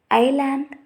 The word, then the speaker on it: island: Let us say island, islet, etc. In above words, the S is silent before L.